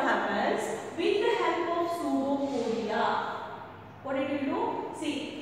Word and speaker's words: pseudopodia: So this is the structure as you know called as pseudopodia. See the spelling, students. P is silent. It is called as pseudopodia.